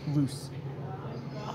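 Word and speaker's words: Luce: Loose. Off. Spell it.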